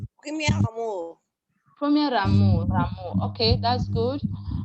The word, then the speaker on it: premier amour: I need to hear a r sound. Let's hear r sound here. The R sound. Please take it again. Premier amour.